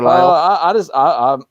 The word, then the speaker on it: Lisle: Lyle is how it's pronounced, though. Like Right. Isle, with like the word Isle. Yeah. Like Jason Lyle. like the British Isles, just with an L at the front of it. I don't think. Yeah, I'm bad at pronunciation. I am terrible with pronunciation. Well, so I mean, you wouldn't know. You wouldn't know the S is silent unless you know what I mean.